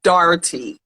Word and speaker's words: Doherty: So Dylan said his last name is Doherty, so that's how it's pronounced. Like Dougherty. No, it's Dougherty. Like Shannon Dougherty. No, he said Doherty.